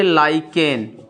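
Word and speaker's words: lichen: लिखेंगे इसे लाइकेन, ठीक है, ठीक है। इसी को लोग लाइकेन को ही इंग्लिश में लीचेन पढ़ते हैं। बहुत सारे लोगों का अपना अपना प्रोनाउंसिएशन है, जैसा भी पढ़े, ठीक है।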